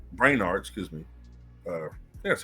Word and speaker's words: Brainard: advisors like Jake Sullivan Steve rete and Lyall brard Brainard excuse me uh that's how you pronounce it Lyle branard frequently F filled in